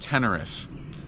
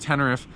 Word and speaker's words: Teneriffe: Well, we actually are at Mount Sai, but we're going to do Mount Tenneref. That's how it's pronounced. Mount Tenneref.